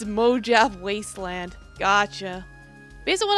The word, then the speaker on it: Mojave: Traders now are we in Spanish Luby it's pronounced Mojave oh I never learned